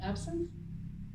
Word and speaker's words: absinthe: Pronounce it for me, please, someone. Absinthe?